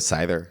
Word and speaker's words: CIDR: it's a cidr CER I don't know how you would pronounce that cidr I could I pronounce it cider cider cider okay I